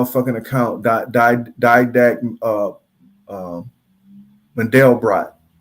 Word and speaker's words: Mandelbrot: account died uh uh mandelbrot that's how you say it model brought but nonetheless uh